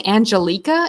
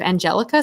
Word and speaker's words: Angelica: butchered her middle name I keep saying angeleka instead of Angelica so I believe it's